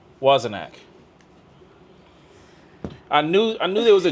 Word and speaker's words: Wozniak: Wozniak.